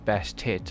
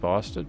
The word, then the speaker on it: Bastet: is really fun is Bastet over here. Um, please don't pronounce that name wrong because uh I've you know when I was watching the video it sounded like they said bastard.